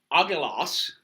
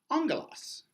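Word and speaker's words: ἄγγελος: And this makes the NG sound. Our word for angel comes from the Greek word for angel. However, the Greek word is spelt. You like that? You like that? You like that? Except the Greek is spelt and that's not pronounced angelos, it's pronounced angelos.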